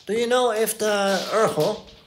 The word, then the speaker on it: erhu: En de Urgel, zo spreek je het uit als het goed is. E-R-H-U.